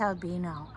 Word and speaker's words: Albino: basilica of san albino it's spelled like albania but we believe it's albino and it is beautiful